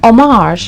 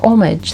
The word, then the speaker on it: homage: Number 9, let's talk about paying homage or homage, the way you prefer to pronounce this word.